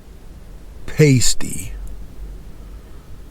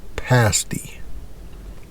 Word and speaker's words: pasty: I think it's called you want to say pasty cuz that's the way it's spelled but it's pronounced pasty whatever my thought was